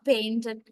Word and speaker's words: painted: And some other times we end the verb, past tense verb, with id sound, like painted.